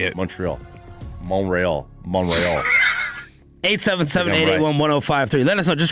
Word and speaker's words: Montreal: I think I pronounce it... Montreal is weird. Montreal. That's how you say it. Montreal.